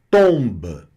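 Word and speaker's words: tombe: Então, tomba, que é túmulo, tomba, o B aqui, ele tem uma característica de um B sozinho, porque esse E aqui ele é desconsiderado, tá certo?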